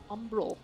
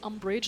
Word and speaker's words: Umbral: Umbral. Umbral. I always want to say umbrage, like Harry Potter.